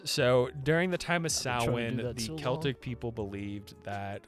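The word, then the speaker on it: Samhain: is the Celtic holiday known as sin. However, it is spelled S H M H A I N to really let you know that it's Irish because you don't it doesn't sin and it looks like Sam Hine and for the longest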